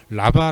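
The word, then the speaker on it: רבה: 가득한 이라는 이 단어는 히브리어로 라바 라고 발음하는 데 이것은 많다 떫다 라는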